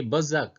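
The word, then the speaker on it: berserk: इसका प्रोनाउंसिएशन होता है बजक। बी ई आर एस ई आर के। बी ई आर एस ई आर के बजक।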